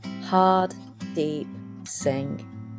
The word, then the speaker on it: Hardeep Singh: her deep sing actually in drag I pronounce it hard deep sing with the Double D's today I want to